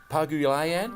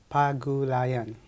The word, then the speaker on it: Pagulayan: from the Philippines, Paguio. I know I'm having a tough time with that. How would you like to say it more correctly than myself? Barry, it is pronounced as Pagulayan. It's not that difficult, is it?